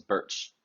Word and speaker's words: Bertsch: My last name is Birch, and it's not spelled like the tree. It's pronounced like the tree, but it's spelled Bertsch.